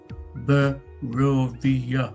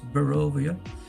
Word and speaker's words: Barovia: A pronunciation guide I'm big in favour for. Barovia works. Barovia.